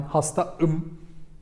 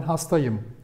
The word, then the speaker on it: hastayım: We use helper sound here because we avoid to pronounce it ben hastaım. Ben hastaım. Something is wrong, right? But it should be like ben hastayım.